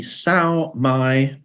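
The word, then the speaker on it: Sao Mai: Yeah, so SMB is the SAO-MI Braille converter. SAO-MI is spelt SAOMAI, and it's a fully functioned Braille translation program.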